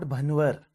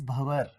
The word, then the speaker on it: Bhanwar: So my name is Bhavar because in my name that N is silent.